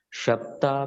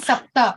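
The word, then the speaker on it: शप्त: For the first one, sapta. Is it sapta? Shapam. Shapam. Oh, shapta.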